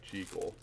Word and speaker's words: Jekyll: And yes, I do pronounce it the proper way, Jekyll.